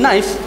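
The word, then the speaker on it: knife: يعني بعض الناس إذا قال هذه كنايف كي فيها، يقولون لا غلط، ما يقولون كنايف، يقولون نايف، سكين.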